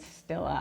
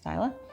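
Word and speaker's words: Stila: I've been pronouncing it Stilla. I thought there were two L's, so I apologize, Styla.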